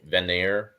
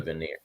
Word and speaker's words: Vanir: It's like, I don't know how to pronounce anything, but it's like Aesir and then the Vanir, like there. Yeah, those. Aesir and the Vanir.